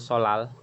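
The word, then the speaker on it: 설날: Nanti kita, Solnal itu apa sih? Tarik tahun baru. iya tahun baru Solal. Oh, bacanya solal, Ya, bukan solnal. Oh, double L. Niannya jadi R. Real.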